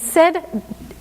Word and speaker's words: said: And said really doesn't look like this. Said is how we pronounce this, even though it's AI.